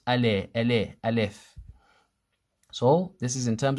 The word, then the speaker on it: alif: And you you'll find it spelled sometimes a l e f al if this is wrong. It should be al if al if not al if.